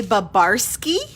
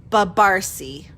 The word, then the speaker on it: Babarsi: is actually hungarian and most people will say babarski almost like it's polish but it's not babarski my poor kids are always um correcting teachers and whatever so the correct pronunciation is babarsi so forget all those weird consonants at the end it's just like an sy it would be like